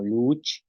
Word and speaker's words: luuch: Tenemos palabras como luch, ícara, losh, que es golpear, y lac, que es traste.